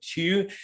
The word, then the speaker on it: Tew: It is Tew, isn't it? Tew is how I pronounce it. Yep. Tew.